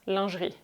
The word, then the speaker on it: lingerie: What is called lingerie in English is actually pronounced lingerie in French, and it's the exact translation for women's underwear.